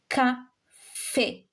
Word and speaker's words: café: This we read it as café because of the accent. Okay? Café. But mostly it is used, this accent is used mostly in past tense. Je suis allé. J'ai mangé. So it makes you pronounce the last letter.